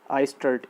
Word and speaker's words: Eistert: ARNDT, इसमें D silent है तो आर्ट। ठीक है, आर्ट आइस्टर्ट, EISTERT, आर्ट आइस्टर्ट reaction, art आइस्टर्ट reaction.